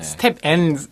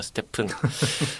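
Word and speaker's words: STEPN: 근데 이게 영어로 하면 영어 스텝 STEP에다가 N이 붙은 형태라서 스텝 N이라고 뭐 착각하실 수도 있는데 정확한 이 발음은 스테픈입니다. 스테픈.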